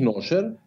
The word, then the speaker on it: Nasher: oder ist es eher Nasher? Nasher. Okay. Eigentlich Nasher, ja, ist nämlich eigentlich kurioserweise ein afghanischer Name und wird Nasher ausgesprochen, aber Nasher kommt der Sache schon sehr nah.